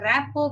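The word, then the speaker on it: rapport: there is a a Rao build with the student the spelling of Rao is r a p o r p t is silent here so initial preparation the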